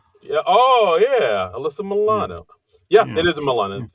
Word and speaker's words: Milano: No, I I I think they said it was Milan cuz I think it said Milano and Yeah. which is which is how you say Milan in Italian.